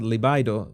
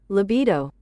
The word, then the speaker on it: libido: okay and your uh how do you pronounce that liido liido liido this is important uh libido libido libido your libido is going